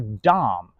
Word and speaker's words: dumb: But is it spelled dumb or dumb? Because it's d o m. We spell dumb du m with a b and the b is silent.